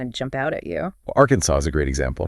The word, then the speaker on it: Arkansas: jump out at you Arkansas is a great example Arkansas Arkansas arkans not Arkansas that's our sound can really throw people I thought I